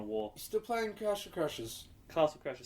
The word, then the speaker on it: Castle Crashers: that's fun um mostly been playing um either Castle Crashes or still da the war still playing Castle Crashers Castle Crashers say it right God damn it what did